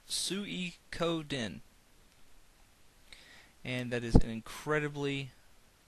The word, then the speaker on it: Suikoden: for the longest time I thought it was soo couldnt but apparently it's pronounced tsui code in and that is an incredibly uncomfortable word to